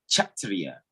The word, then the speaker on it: Kshatriya: belonging to the, and that's actually pronounced Kshatriya. When they put the K before the SH, it has the CH diphthong.